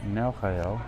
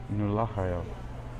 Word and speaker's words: Nelchael: All right, now Nelchael is how I've been pronouncing it. Let's see what the book tells us how to pronounce his name. Number 21 here. And it says, oh wow, I'm totally off. Nulachael. All right, Nulachael.